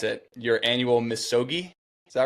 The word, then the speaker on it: Misogi: up about for doing I'm going to probably mispronounce it. Your annual Missogi.